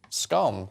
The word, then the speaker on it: scone: how do you say how you say scun and I said scone and she went oh yeah that's it then isn't it